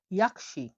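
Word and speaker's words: yaxshi: এবং সর্বশেষ অক্ষরটি হলো ওয়াই, ওয়াই উচ্চারণ হয়ে থাকে ইয় হিসাবে। আমরা উদাহরণ দিচ্ছি দেখুন, ইয়াকশি, ইয়াকশি, ইয়াকশি মানে হলো গুড বা ভালো, ঠিক আছে?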